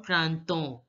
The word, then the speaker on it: printemps: In French, EM is pronounced as O. The way you pronounce EN. EN is pronounced as O. So, EM will also be pronounced the same way, on. So, it becomes le printemps. Generally, in French, the last letters of the word are not pronounced. So, here, P and S are not going to be pronounced.